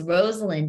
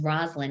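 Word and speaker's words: Rosalynn: name really bothers her it's Rosalind but everyone says Roslyn including me when I first met her and so it's really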